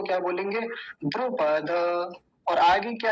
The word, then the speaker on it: द्रुपद: द्रुपद नहीं है ये, द्रुपद, क्योंकि हलंत नहीं है। अगर हलंत लगा होता तो क्या बोलते? द्रुपद। लेकिन अभी हलंत नहीं है तो क्या बोलेंगे? द्रुपद।